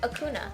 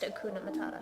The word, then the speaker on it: Hakuna Matata: In the song it's pronounced Hakuna Matata. It's just that H isn't a consonant. It's an aspirant. I understand. And so you don't hear it very much.